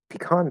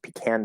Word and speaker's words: pecan: or 13 i tried pecan pie also pronounced pecan pie because that word can be pronounced multiple ways but pecan i like